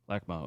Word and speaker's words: LACMA: Now, do I say it right? Lakma or Lakma? Yeah, LACMA. Lakma.